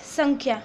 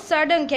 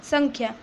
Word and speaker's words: संख्या: Okay, so we will pronounce it एज संख्या, नॉट सडंख्या, ये ड नहीं है, संख्या.